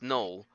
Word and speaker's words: Noel: we're not totally sure he spells it like joel so n-o-e-l which he would definitely pronounce null but his parents named him noel and so throughout the